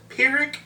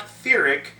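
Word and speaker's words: Pyric: That's right, I'm a storyteller who is working really hard to remember that the new fire elemental language is pronounced Pyrrhic, not Fearic.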